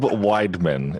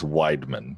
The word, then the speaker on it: Weidman: So that is Weidman. It is an E-I, but trust me, I got it wrong all throughout school, but it is Weidman. Yes.